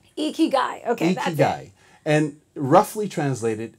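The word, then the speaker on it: 生き甲斐: do you say it it's a Japanese word and it comes from the island of Okinawa and it's eeky guy eeky guy okayy and roughly translated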